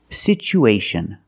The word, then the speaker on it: situation: pronunciation for this word we see that t as the second syllable with t-u-a so we pronounce it with e sound it's pronounced situ situation one situation or two situations so the second syllable is the long u like Boot and moon situ situation we have